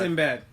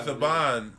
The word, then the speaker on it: Saban: Sinbad. No, his name is Saban. It's Saban. It's pronounced Saban.